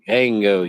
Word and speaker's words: Django: It's like Django, you don't pronounce the D.